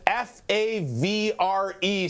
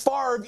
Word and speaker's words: Favre: decades to this point thinks that the word f a v r e spells Farve. No, it doesn't. It's impossible. That can't possibly say Farve. But we just go with it. It's not Favre, it's not Favra, it's Farve even though the v is in front of the r.